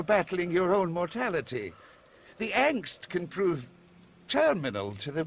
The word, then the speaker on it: Angst: By the way, angst, it's funny that it's a word in English because it's a German word and it means fear. And it's pronounced Angst, not angst.